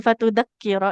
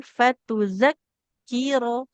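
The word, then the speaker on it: فَتُذَكِّرَ: do do do di di anilla antadilla ihdahuma fatudaqqir ihdahumalro ini enggak boleh fatudakkiro ya huruf zal fatuzakkir huruf zal ujung lidahnya kita tempelkan ke ujung gigi seri yang atas coba.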